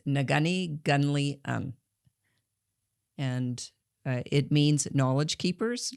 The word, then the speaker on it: Neghuni Ghunli-un: Uh it took me two months to learn how to pronounce the whole name and it is Nagani Guni and it means knowledge